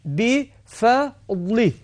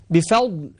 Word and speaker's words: بفضل: مثلا بفضل، بفضل فا مرققة والضاء مفخمة.